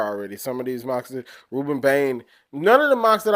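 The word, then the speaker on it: Rueben Bain: How do you pronounce his name? Ruben Bain.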